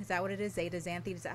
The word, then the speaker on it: zeaxanthin: Zeaxanthin? Is that how you say it? Zeaxanthin is how it's pronounced.